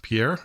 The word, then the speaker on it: Pierre: and you know with the french accent i guess the r's are the most problematic but i will allow